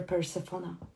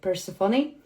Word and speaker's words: Persephone: Because the story of Persephone, I always pronounce her Persephone. Yeah, Persephone.